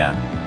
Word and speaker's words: Yang: Tan Kim Nio kemudian mengambil nama panggung, Vivi Yang. Nama keluarga Nyo dalam dialek Hokkien diucapkan Yang dalam bahasa Mandarin.